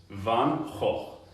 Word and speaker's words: Van Gogh: the stream before um Van Gogh's name is van so van and van ho and that's how you say it in Dutch correct me if I'm wrong and then in America you'd say Van Gogh so I say Van